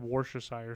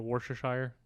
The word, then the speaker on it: Worcestershire: Well, I had wonton in my mind, and then I had Worcestershire sauce. Is that how you say it? That's literally how I say it, Worcestershire.